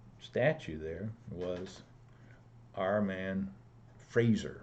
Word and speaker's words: Fraser: there was our man Fraser rhymes with laser James Earle Fraser and